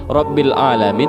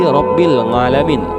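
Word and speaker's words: رب العالمين: karena Wali Paidi ini ketika membaca huruf Ain menjadi Ang, Rabbil Alamin menjadi Rabbil Ngalamin.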